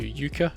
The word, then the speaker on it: Yucca: The third one is just you being dropped into yuka or yucca depending on how you want to pronounce it and there's nothing here